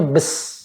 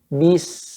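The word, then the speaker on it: بسم: Ya, tadi Bapak bacanya bes. Soalnya dengarnya bes. Bi, benar-benar Pak, ke bawah kan mulutnya. Bi, bis, gitu Pak.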